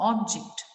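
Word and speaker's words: object: ऑब्जेक्ट, ऑब्जेक्ट, ऑब्जेक्ट नहीं बोल रहे हैं, ऑब्जेक्ट नहीं, JECT पर स्ट्रेस नहीं दे रहे हैं, हम OB पर स्ट्रेस दे रहे हैं, तो हम ऑब्जेक्ट पढ़ रहे हैं उसको, विच विल बी अ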